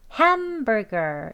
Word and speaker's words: hamburger: hamburger 이렇게 발음되어집니다.